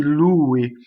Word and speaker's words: lui: It's not nome di lui, double L, right? Single L. So di lui. So lui has more of the U than the E.